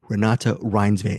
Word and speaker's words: Renate Reinsve: So the first interview is with Renate Reinsve, and I've actually know how to pronounce her name now, Renate Reinsve, and that's my bad.